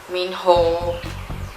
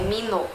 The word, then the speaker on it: Minho: Min ho ou minho não é minho, pelo amor de Deus, é mino.